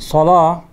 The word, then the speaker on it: الصلاة: Now note that the word salah, the al-alif al-khanjariya is placed right on top of the waw. So you have to pronounce only the alif, not the waw.